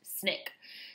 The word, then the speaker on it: SNCC: nonviolent coordinating committee or the sncc pronounced snick she advocated widespread local